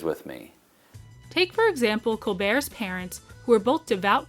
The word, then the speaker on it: Colbert: pretentious name like Colbert, where you don't pronounce the T.